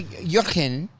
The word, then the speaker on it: Jurgen: let them know oh jurin spelled like jurgen's lotion is my roomie and that's how he says it so I have